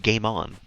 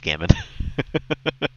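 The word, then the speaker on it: gammon: is that another meat is it pronounced gay on gay man you guys are eating gay men in the UK oh my God cozy how could you G no I know I the rest of that was all joking I know it's pronounced gamon I know you're not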